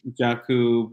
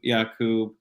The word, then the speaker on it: Jacoub: get my name so a lot of people pronounce it jakku yakub uh you know i i accept all of them so well um and